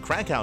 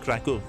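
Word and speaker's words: Kraków: event, the offline event in Krakow and Kraku, depending on where you are, depending on your pronunciation.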